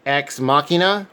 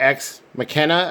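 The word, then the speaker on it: Ex Machina: the second film appleseed x machina or x mckenna i've heard it pronounced a couple different ways this is another two-disc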